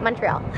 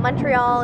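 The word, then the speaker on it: Montréal: is Montreal mhm and how English people would say it Montreal and how they say it here is like MO is that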